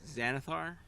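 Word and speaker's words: Xanathar: So this was Xanithar. X A N A T H A R. However you would pronounce that.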